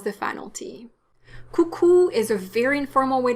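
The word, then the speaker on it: coucou: there it is someone you want to say cuckoo not cucu como escavo vuza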